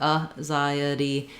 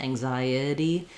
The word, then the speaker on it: anxiety: Then our itty ending is going to have either a schwa or an I sound. I've written it here with schwa like anxiety because it's a really reduced vowel. I think most people will say it probably with that I sound, anxiety, but it doesn't make too much difference.